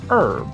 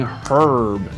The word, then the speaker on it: herb: it they start saying herb again it makes sense that they pronounce the h sound but honestly we shouldn't be surprised that herb is pronounced the way